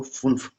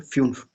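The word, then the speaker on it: fünf: Five को फुन्फ, फुन्फ, फ्युन्फ, ठीक है, फ्युन्फ।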